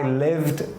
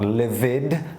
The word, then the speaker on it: lived: I lived in Dalat 4 years ago. Lived, not livid, lived, okay?